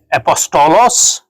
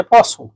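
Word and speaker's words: apostle: کا بھی فرق ہے۔ یونانی میں کہتے ہیں اپوسٹولوس، انگریزی میں کہتے ہیں اپوسل، یعنی ٹی جو ہے سائلنٹ ہے، لکھنے میں تو آتی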